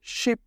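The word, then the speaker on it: 십: আর নিচে বিয়োগ, আর বিয়োগ যদি নিচে থাকে তাহলে তাকে আমরা তার শেষের অক্ষর দিয়ে উচ্চারিত করে থাকি। তাহলে টোটাল উচ্চারণ হবে শিপ, শিপ।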